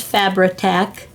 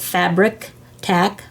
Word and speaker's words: Fabri-Tac: switching glues this is fabri-tac i used to call it fabric tack but that's not how it's spelled there's no c after the eye so i will put